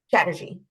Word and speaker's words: Chatterjee: How do you pronounce last name? Is it Chatterjee? Chatterjee. Chatterjee.